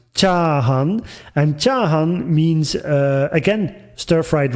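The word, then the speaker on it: 炒飯: the arrow you see the Japanese variation which is pronounced chahan and chahan means again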